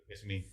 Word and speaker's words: epitome: I would say, I always say epitome. Yeah, epitome. All right. Epitome. Not good with these pronunciations.